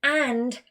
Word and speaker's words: and: We'd have to say, I have a pen and pencil. Now I've pronounced it with the big vowel at with a D at the end, really important.